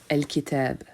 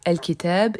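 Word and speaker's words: الكتاب: Al-Kitab. Nous retrouvons notre article défini suivi d'une lettre lunaire, donc le l se prononce.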